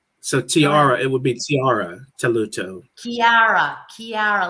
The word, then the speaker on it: Chiara: I am from an Italian background, so it's a K sound. It's Chiara Talluto. Chiara.